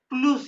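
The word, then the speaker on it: plus: प्लुस ये प्लस के spelling English वाले ही है लेकिन ये उ कहते हैं। प्लुस प्लुस सिवाय क्लश जीबल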